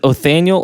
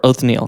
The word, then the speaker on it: Othniel: I'm not sure how to pronounce. Is it Othniel or Othniel? Just call him Othniel. Oath. It's Othniel.